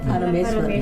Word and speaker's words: Paramesvari: says, today we're doing the origins of Angala Paramesvari. Am I saying it right? Paramesvari. Paramesvari, yeah.